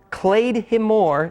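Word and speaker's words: claidheamh mòr: Clay himore is how it was actually pronounced in Gaelic.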